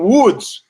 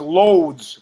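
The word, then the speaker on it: Łódź: If one of us has to go, she comes from Woods. Woods. A word that I had pronounced loads for a long time because it amused me more than to say Woods. L-O-D-Z is how it looks to us.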